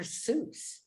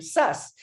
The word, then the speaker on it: Seuss: real name was dr seuss he tried to call himself dr suss but we it was spelled like zeus that's so funny oh